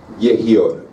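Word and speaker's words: יהי אור: Esa orden se pronuncia Yehior, ¿sí?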